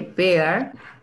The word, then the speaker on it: bear: Mientras que bear son, sí, acá está. No se identifica ningún sonido de la I, ¿no?